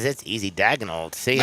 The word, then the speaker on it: Daigneault: Mark Daigneault. Daigneault? Daigneault. That's easy. Daigneault.